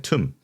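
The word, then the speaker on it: tomb: 굉장히 어 B가 발음이 안 된다는 거 정도는 예상한 친구가 있을 건데 이거는 이상하게 툼이라고 발음해요. 툼 신기합니다.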